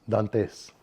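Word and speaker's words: Dantès: One of his characters is is based on the uh the disguise of uh Edmund Edmund Dant how do you pronounce it? Dant Dantes.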